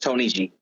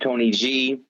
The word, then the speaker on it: TNYG: Tony G right so the pronoun it is pronounced Tony G just to clear up the rumors there was